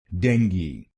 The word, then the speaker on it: dengue: it will be called dengi denge this word has two syllables deng ge deng ge then it will become dengi denge and in this you have to put stress on the first syllable dengi denge now let's